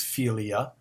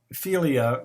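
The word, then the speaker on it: φιλία: form of love in the greek language is philia p h i l i a um which could be translated friendship but it you know there are friends and then they're friends um philia means a deep seated long-lasting loyal friendship the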